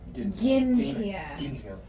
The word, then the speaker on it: Gintia: Kai's gonna look while Gintia. Gintia. Archie. Hashtag hard G.